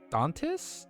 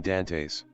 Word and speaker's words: Dantes: Dwayne Dantis Dantis 6 feet.